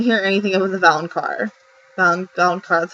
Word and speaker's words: Valonqar: Valonqar, that's how you say it, right?